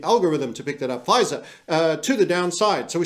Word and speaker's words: Pfizer: Pfizer, to the downside.